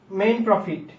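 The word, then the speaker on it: mesne profit: উচ্চারণ করেন এটা এটা এম এস এন ই কিন্তু উচ্চারণ হচ্ছে মেইন প্রফিট মেইন প্রফিট মানে হচ্ছে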